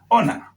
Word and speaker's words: honor: So the word honor is pronounced as own, honor.